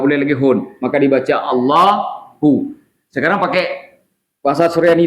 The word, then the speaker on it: Allah: dimasukkan lam kepadanya watimi lam itu dibaca dengan tafkhim tebal maka tidak boleh baca Allah bukan Allah bacanya ditebalkan Allah ahah lamnya ditebal nah jangan bacanya Siapa